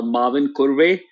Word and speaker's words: Mavinkurve: name is uh Marvin kurway and that's how it's sort of pronounced in India and I think uh